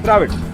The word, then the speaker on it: Dravid: You know, whatever we pronounce, we write. You see, in Kannada, in Tamil, whatever we say, if it is Dravid, it is Dravid. Okay, we say it as Dravid, and we write also D-R-A-V-I-D, Dravid.